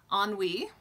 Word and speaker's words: ennui: to say this word the designer is suburban ennui and it's the works of Jane Austen stitch